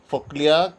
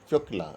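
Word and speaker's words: Фёкла: Foklia came to Trenti, and Fyokla actually pronunciation Fyokla, asked to help free her brother Danilka.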